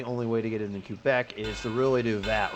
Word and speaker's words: Quebec: Might be able to get away with the smaller one in Quebec. Oh, nice. Yes, I know it's also pronounced Quebec, but, you know, I'm American. I pronounce things weird.